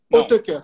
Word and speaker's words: Hautekeur: François, vamos ver se a pronúncia está certa aqui. Altecker. Altecker, sim.